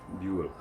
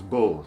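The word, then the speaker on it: Bühl: Buell. Now when we put it in American English, we lose the two dots on the U and the second syllable, and it becomes bull to Americans.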